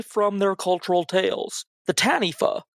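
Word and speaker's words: taniwha: their cultural Tales the tanifa spelled t-a-n-i-w-h-a apparently w-h-a spell is pronounced with an F unlike a lot of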